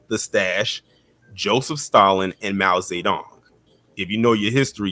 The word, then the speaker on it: Mao Zedong: Mao Zedong is the correct pronunciation.